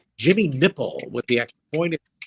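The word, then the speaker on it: Knipple: And then me and JT are doing the game and I said, "It's Jimmy nipple with the extra point spelled K Ni PL E but pronounced nipple."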